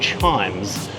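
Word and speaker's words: CHIJMES: I'm at this really cool precinct called Chimes. It's pronounced chimes.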